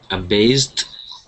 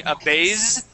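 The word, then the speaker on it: abased: uh then is um a based okay that's an SS sound make sure instead of saying aase we say a based aast yeah with the t ending aast a beast say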